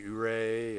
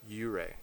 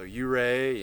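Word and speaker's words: Ouray: colorado oh yeah we got to see ooray or excuse me uray learn the right way to pronounce it so you ray and you know the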